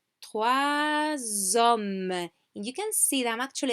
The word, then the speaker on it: trois hommes: Same with three. Here now we do pronounce the S, that also becomes Z. So we say trois hommes.